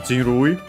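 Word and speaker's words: 人類: Accent on the first more, a Chinese compound of those.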